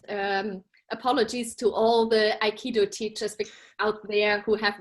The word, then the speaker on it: aikido: their own definitions um saikido is a japanese word it's a japanese martial art and it uh consists out of three syllables i ki and do and very roughly translated